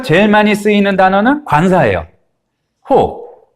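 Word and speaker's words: ὁ: 호. 근데 지금 위에 이 거꾸로 된 심포 같은 게 있었죠? 이렇게 되면 히읗처럼 발음하시면 돼요.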